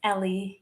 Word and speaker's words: Eli: My nickname is Ellie. It's spelled as Eli.